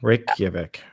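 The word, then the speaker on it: Reykjavík: Reykjavik. Reykjavik.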